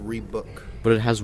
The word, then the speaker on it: Reebok: It's pronounced Reebok.